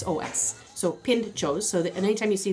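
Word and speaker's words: pintxos: in shows was p int x OS so pinned chose so that anytime you see the exit is pronounced chuck so the deal up there is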